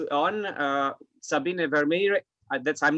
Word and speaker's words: Sabine: do you spell your name how do you pronounce your name it's uh sabine but that's that's a bit difficult in dutch